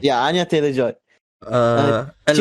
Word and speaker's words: Anya Taylor-Joy: Peach is played by how do you pronounce this name? Anya Taylor-Joy. Yeah, Anya Taylor-Joy.